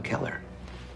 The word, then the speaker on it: Keller: Phonetic Alphabet to pronounce Keller have in mind that the size of the syllable indicates where the accent or stress is in this case the accent is in the first syllable corresponding to Kell below are other ways